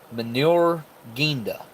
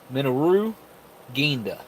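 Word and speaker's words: Minoru Genda: This General Minotaur Ginda. Minotaur Ginda, I don't know how to pronounce that. Minoru. Minoru Ginda. Minoru Ginda.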